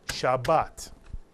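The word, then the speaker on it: שבת: the screen Alex Shabbat it has two syllables and each syllable has the same beat to it shaat and we simply accent one of the syllables shabat here's another word toora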